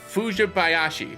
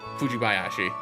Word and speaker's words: Fujibayashi: Sheena Fujibayashi. I butchered that. Fujibayashi.